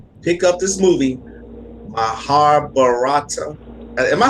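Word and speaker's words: Mahabharata: would tell anyone pick up this movie my har barata am i saying it right yeah you got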